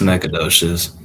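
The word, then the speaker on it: Nacogdoches: Austin is I'm gonna butcher this this city the in Nakogoshious. Is that pronounced? How do how do you pronounce that? It's necadosious. Necadocious.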